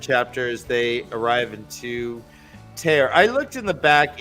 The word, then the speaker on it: Tear: Dan, it's pronounced tear.